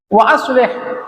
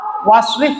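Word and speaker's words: وأصلح: Wa aslih, dan ya Allah, ya Allahumma aslih, boleh dibaca waslih boleh, wa aslih boleh. Jadi kalau bapak-bapak membacanya waslih boleh, wa aslih. Kalau wa aslih namanya diqat'i, ditetapkan hamzah, itu alifnya hamzah.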